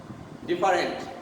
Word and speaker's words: different: This one, the most common one, different. 99% people in Bangladesh pronounce it as different. But actually the pronunciation is different. Different, not different. Different. Different. This E is not pronounced.